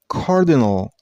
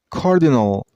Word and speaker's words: cardinal: See, the last syllable is not pronounced as nal. It's no. And stress on the first one. I mean on Cardinal. Cardinal. Cardinal.